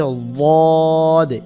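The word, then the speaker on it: ضاد: সদে সদে মোটা হবে এটার নাম হচ্ছে ওয়াদে ওয়াদে জিব্বার গোড়া দিয়ে কেমন এটাকে কিন্তু অনেকে দদ বলে দদ বললে জিব্বার আগা দিয়ে উচ্চারণ হয় এটা দিয়ে একটা ভিডিও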